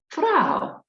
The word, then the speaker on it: Frau: is rosa and gold frau well frau also rhymes with now and wow and even shall so